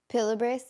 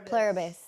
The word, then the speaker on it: Pluribus: Pilibris? No, Pluribus.